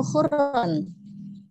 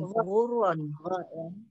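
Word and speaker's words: غُرًّا: Ya, ghurron atau khurron? Ghain, ghurron.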